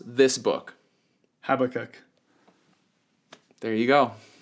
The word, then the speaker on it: Habakkuk: How do you pronounce this book? Habakkuk.